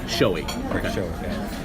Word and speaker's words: Schowe: do you say your last name is showing showy so he said you you need to realize